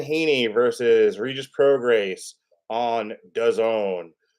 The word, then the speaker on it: DAZN: Yes, we are doing Devin Haney versus Regis Prograis on DAZN, which, as we all know, rhymes with calzone.